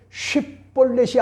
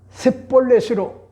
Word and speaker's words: 쉽볼렛: 자연스럽게 할 수가 있지만은 에브라임 지파의 사람들은 쉿볼렛이 아니라 셋볼렛으로 그렇게 뭐잡니까? 묘하게 반응하는 것 같은 그런 모습을 오늘 봤단 말이요. 그래서 오늘 본문에 보세요. 에브라임 사람이 그렇게 바로 말하지 못하고 셋볼렛이라 발음하면 이렇게 이야기를 해주고 있죠.